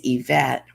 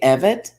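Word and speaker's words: Evette: is spelled and my middle name is yvette and it's not spelled like most events it's spelled e-v-e-t-t sometimes people used to call me and say evid oh you know they won't die this way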